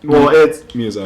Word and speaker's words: Miyazaki: it's pronounced Miyazaki.